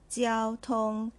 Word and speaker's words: 交通: First, our word for today, 交通 , 交通。Let's look at the first character.